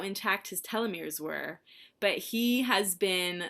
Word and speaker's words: telomere: was going to say, I think that I look at that and pronounce it telomere.